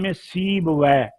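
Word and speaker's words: سیبویہ: اللہ علیہ کے نزدیک 17 مخارج ہیں۔ امام سیب وے، نام یاد رکھ لیں، یہ تلفظ نہ غلط کریں، یہ ہمارے لیے یہ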